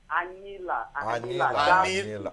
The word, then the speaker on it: Anyila: It is pronounced. Anyila.